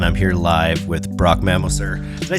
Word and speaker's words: Mammoser: here live with Brock Mammoser. Did I say your last name right? That's right. I have a tricky last. Mammoser. Mammoser. That's right. You put emphasis on the syllable.